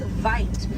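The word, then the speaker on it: wyd: Original word for white rhino was vite. Vite means wide in apricots, but over time it was misheard and mispronounced and it turned into the white rhino.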